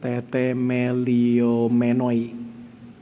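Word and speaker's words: τεθεμελιωμένοι: Jadi cara bacanya tuh teteliomenoi.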